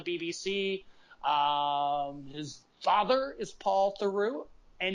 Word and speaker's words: Theroux: his father is Paul turu and you pronounced it through like true yeah he left her